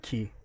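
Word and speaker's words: 気: That's because in Japanese you call it ki.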